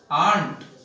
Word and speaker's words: aunt: पर ध्यान रखिए एक स्पेलिंग होती है AUNT, आंट।